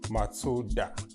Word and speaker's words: Matsuda: Mazda was also a perfect way to respect the company's founder, whose family name was Matsuda, which is pronounced very close to Mazda.